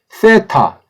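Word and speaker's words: θήτα: 가운데를 갈라 주는거 에 이게 세타 잘 발음이 어려운 부드러운 때 타 대향 땐 아니지만 3 때의 셀 아니에 쎄 라고 하는 것보단 떼 쪽이 가깝습니다 이거 이 영화의 t h 사운드 기 때문에 어 예 쓰 가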